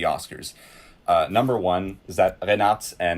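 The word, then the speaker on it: Reinartz: Arnaud, drop the correct pronunciation. Renat.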